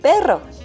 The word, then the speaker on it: pero: just one R because the pronunciation of just one R is totally different compared to Double R because of all R